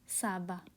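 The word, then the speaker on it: סבא: Okay, grandfather, दादाजी Hebrew में होती है, हिंदी में दादाजी एंड हिब्रू में होती है साबा, साबा।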